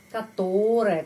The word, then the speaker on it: которое: Которое kita menulis которое, tapi pengucapannya которое karena penekanannya di sini.